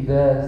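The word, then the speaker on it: إذا: Idza ini yang terkadang pengucapan za ini agak memah. Kalau orang Betawi biasanya ada agak seperti kayak jim ya, ija gitu. Ini yang tidak boleh. Idza lidahnya itu dikeluarkan sedikit di antara gigi.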